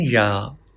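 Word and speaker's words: ي: For pronouncing Ya, touch the middle part of the tongue with the middle part of the palate.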